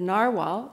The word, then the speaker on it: narwhal: today but the eagle represents First Nations the Narwhal I checked that pronunciation it's narwhal now represents the Inuit and